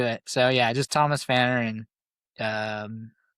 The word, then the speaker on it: Pfanner: The P is silent, correct? Yeah, Pfanner. Pfanner, right. Oh yeah, I had my 99%. My first MMA fight, I was announced as Thomas P. Pfanner.